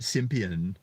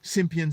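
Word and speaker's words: Cimpian: NYU Associate Professor Andre, it's spelled Cimppian, but I get great joy out of pronouncing that Simpian, says boys may be less likely to recognize benevolent attitudes as patronizing.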